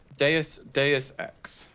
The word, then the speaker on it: Deus Ex: How do you pronounce that, actually? Deus Ex.